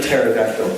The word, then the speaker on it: pterodactyl: The P is silent. I want a T-shirt. T-shirt. It's like pterodactyl.